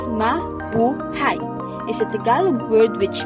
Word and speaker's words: mabuhay: foreigners in the country pronounced as ma bu hai is a tagalog word